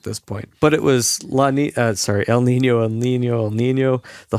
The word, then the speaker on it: El Niño: When I was there, the talk was El Nino. Oh, you guys got me saying it. El Niño. In Spanish, they pronounce it with a Niña over the N, El Niño.